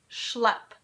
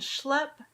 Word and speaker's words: schlep: School or schlep. School has the ska sound and schlep has the sh sound.